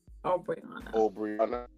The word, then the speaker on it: Obriona: Obriona.